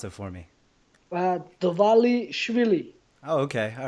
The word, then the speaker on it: Dvalishvili: Pronounce it for me. Dvalishvili.